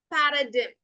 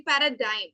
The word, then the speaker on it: paradigm: The pronunciation is actually paradigm. Okay, ചെറിയ mistake വന്നതാണ്. Paradigm എന്നാണ് കേട്ടോ pronunciation വരിക. Paradigm അല്ല, it's paradigm. Paradigm. Okay, and the letter G is completely silent.